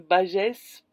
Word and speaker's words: Bages: le Périgord, tout ça, on dit toutes les lettres, donc Bagès. Bon, je vais dire Bage.